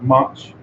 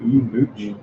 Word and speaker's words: much: We have much, which is pronounced up, not mooch, and also comparing to OU, which is cut, the same sound.